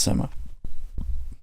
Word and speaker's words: Sema: sounds associated with it the S sound and the M sound and the vowels are filled in so by convention it's pronounced Sema the symbol by itself